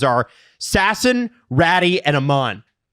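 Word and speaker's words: Räty: their names are Sasson, Ratty, and Amon. I believe it's Ratu. Oh, Ratu. Because Finns like to be like Atu Ratu. That's how you say it.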